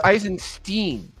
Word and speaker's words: Eisenstein: I never get used to the book- English pronunciation of German words like Eisenstein. Nico, I can tell you what. No, it's Eisenstein. Eisenstein.